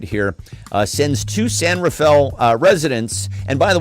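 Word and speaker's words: San Rafael: here, uh sends two San Rafll uh residents. And by the way, kids, if you if you're not from there, it's Sanfell, which is how they pronounce it.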